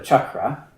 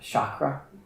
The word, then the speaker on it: chakra: Chakra. Is that how we say it? Chakra. Sounds better in English than chakra. It's exciting, but it's not so shocking. It's more just chucking. That is the correct pronunciation.